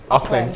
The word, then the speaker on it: Auckland: Now, am I pronouncing that right? Auckland. Auckland.